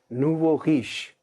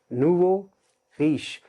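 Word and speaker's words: nouveau riche: आज की लिस्ट का पहला वर्ड, पहला फ्रेज, नूवो रीश। और से सुनिए इसको, नूवो रीश। नूवो means new, रीश means रिच। नूवो रीश Urdu में क्या कहेंगे, नौ दौलतिये।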